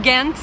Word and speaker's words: Ghent: Bon, nous quittons Gand, ou Gand, ou Ghent, c'est suivant les prononciations, on a un peu tout entendu ici.